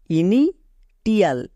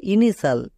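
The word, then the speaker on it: initial: উদাহরণ দেখি যেমন দেখো ইনি টিল এটা উচ্চারণ হবে না এর উচ্চারণ হবে ইনিসাল কেন হবে কারণ এখানে দেখো শব্দের শেষে টি আই এল সাল সাল আছে উপরে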